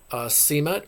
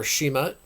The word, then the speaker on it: Simut: Well, there ends our video on the god Simut, or Shemut, however you want to pronounce that, because it's pronounced in both ways.